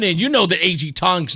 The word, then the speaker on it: Tong: Thong, I said his name wrong. Tong is going after Aaron Stewart.